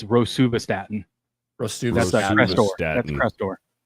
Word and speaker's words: rosuvastatin: It's Rosuvastatin.